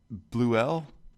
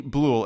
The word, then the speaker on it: Bleuel: Is it Bleuel? Yeah, that's one way to pronounce it, or Bleuel.